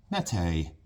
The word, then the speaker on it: Mete: And how do you pronounce Mète in Turkish? And you hit the little thing, and it's like Mète, Mète, Mète.